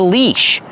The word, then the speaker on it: leash: This is called a leash. Use a long e sound like green beans.